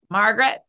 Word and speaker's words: Margaret: have language burger names margaret and frederick right it's not margaret m-a-r-g-a-r-e-t right so i'm just